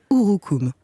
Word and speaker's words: urucum: lourd hookoom du coup alors ça s'écrit sur youtube mais se prononce ou roux coups sûrs qu cocoa haut